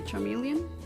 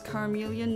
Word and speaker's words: Charmeleon: my patreons the FY Charmeleon which I always used to pronounce as careleon no idea why I guess I just read it as like a chameleon because to me the